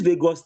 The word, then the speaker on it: vagus: The nerve is called vagus nerve. Vagus. Let me spell it.